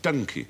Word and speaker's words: donkey: It was pronounced donkey like monkey.